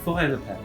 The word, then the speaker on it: Faure Le Page: You know, you said in English, you said for forest. Yes. Take off the ST. Faure. I told him the pronunciation. Yeah. Faure. Faure Le Page.